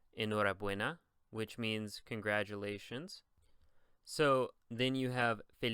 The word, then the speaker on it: enhorabuena: I know I told you that if the word is going to be a normal Spanish word without an accent on it, the stress is on the penultimate syllable. So in this case, it would be enhorabuena, right?